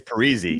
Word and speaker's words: Parise: He comes out and says, "Actually, you guys have been saying my name wrong the whole time." It's Parisi.